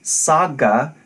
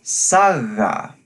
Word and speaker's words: saga: as the pronunciation sub it's not a hard stop but instead of a more gentle fricative not saga but saga this shows up as